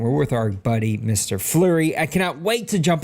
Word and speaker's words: Fleury: Yep, it's just Fleury.